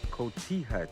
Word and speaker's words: cotija: This recipe calls for a cheese that you may not be familiar with, and it's called cotija cheese. It's not spelled that way, but that's how you pronounce it.